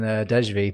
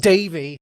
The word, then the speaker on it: Dejvi: The first thing I'm seeing is, well, I've been calling Dejvi, but it's actually pronounced Davy, he writes in his nickname.